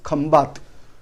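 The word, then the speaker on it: Khambhat: Actually, name of this is Khambat, but in English we are pronouncing as Kambai.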